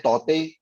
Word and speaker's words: Tauktae: Cyclone तौते, तौते जो spelling है उसको प्रोनाउंस करते हैं तौते।